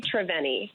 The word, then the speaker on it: Triveni: Yeah, so it's a Sanskrit word. So people pronounce it different ways. None of them are wrong. I say Triveni.